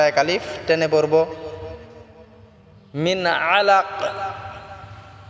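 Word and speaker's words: عَلَق: আলিফ টেনে পড়বো মিন আলাক আলাক কাফটাকে আমরা কলকলা করে সাকিন করবো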